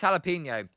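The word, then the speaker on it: jalapeño: Zims, I say it like this: jalapeno. That's weird. Jalapeno. It's jalapeno.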